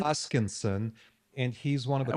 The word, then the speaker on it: Hoskinson: Hutchkinson. Hoskinson. And he's one of the Why don't you spell that to me?